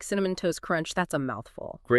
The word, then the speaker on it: Cinnamon Toast Crunch: And uh what about like Cinnamon Toast Crunch? That's a mouthful. Great example. That tea and toast often disappears between the Ns and C.